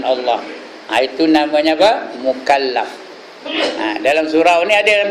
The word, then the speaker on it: mukallaf: tiap-tiap orang Islam yang mukalaf sebut betul-betul mukalaf bukan maklab yaang balik ke rumah k maklab bacanya mukalaf tulis r m k